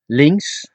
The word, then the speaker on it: links: Links is left. It's spelled L I N Ks, but you don't pronounce the K.